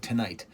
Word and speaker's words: TNGHT: I assume it's supposed to be pronounced like tonight.